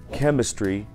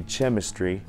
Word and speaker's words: chemistry: Как в слове chemistry, а не chemistry.